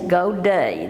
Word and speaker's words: godet: Now, while we're talking about pronunciations, there's another word that I'd like for you to learn, and that is godet.